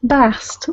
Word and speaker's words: Bast: Please be sure to put the at the end. Bast. That is the feminine pronunciation.